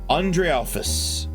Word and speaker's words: Andrealphus: Andrealphus, the consort of gold.